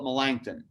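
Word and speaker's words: Melanchthon: number two is philip melangton now i've used millen's name a lot to spell that as m e l a n c h t h o n melangton and malangthen was is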